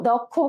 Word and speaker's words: দক্ষ: দেখো অ এর পরে যদি কি বলছে, যুক্ত যে ক্ষীয় থাকে, তাহলে কি হয়ে যাবে? ও এর মতো হয়ে যাবে। তাহলে দক্ষ, আমরা কি বলি? দক্ষ। দক্ষ কিন্তু আমরা বলি না, উচ্চারণটা সঠিক উচ্চারণটা এভাবে হবে যে প্রমিত সঠিক উচ্চারণটা হবে দক্ষ, ঠিক আছে?